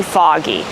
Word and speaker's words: fog: We pronounce it a fog. We make the sound a like in call and ball and audio. Audience. Also we have the same sound in words like saw and law.